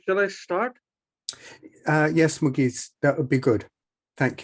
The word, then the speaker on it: Mugees: outpouring for wouldi do you pronounce your name with a hard G or a soft G it's a mugis m okay M um